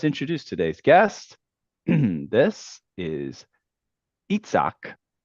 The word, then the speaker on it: Isaac: It's spelled Isaac, Isaac, and we all like, some people say Isaac. I enjoy saying it appropriately because I know you say Itzhak. Isaac, if you're taking the French. Isaac?